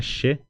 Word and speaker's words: che: los que hablan español la letra ch se pronuncia Che pero no es Che se pronuncia She Porque después vamos a